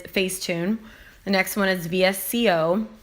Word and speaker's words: VSCO: the next one is vsco visco is another way that people pronounce it layout which is the